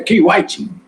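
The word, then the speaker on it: Kai Whiting: Eu descobri que o modo de pronunciar é Kay Whiting. Que o Caio parece Caio, o nosso E grego, né?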